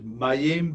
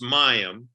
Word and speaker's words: Mayim: last one is that the name is mayim bialik is that how you say it you're close it's mayam mayam mayam bialik so yeah mayam is